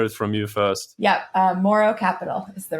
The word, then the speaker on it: Mouro: let people hear it from you first yeah moro capital is the right pronunciation all right so you just announced it